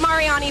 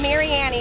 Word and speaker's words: Mariani: of Mary Annie and I know we all call it Mariani but it's Mary Annie I got a lesson